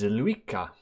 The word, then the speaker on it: Zilliqa: Look at Zilliqa, or if you're American, you pronounce it as Zilliqa.